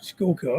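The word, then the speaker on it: Schuylkill: kill further north you go to H gets skull kill I say her name wrong skull kill SK that's Skully I want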